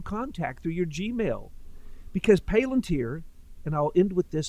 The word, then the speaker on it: Palantir: through Peter Thiel called Palantir, or I oftentimes mispronounce it because it's a word used by J.R.R. Tolkien. Palantir, however you pronounce it, it's Peter Thiel's